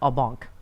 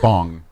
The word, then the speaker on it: en banc: Almost as much as I like en banc. En banc. En banc. It's two words. It's just fun to say. It's 2 words. And it's spelled B-A-N-K. Q. C. C. En banc. Yeah. Not bong.